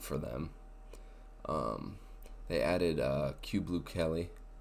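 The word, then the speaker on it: Kyu Blue Kelly: them they added uh Cube blue Kelly I think that's how you pronounce it um I was always calling him Caillou but they have q blue Kelly uh and I think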